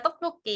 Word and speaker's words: tteokbokki: makes I don't know if that's how it's pronounced, tteokbokki. Yeah, tteokbokki.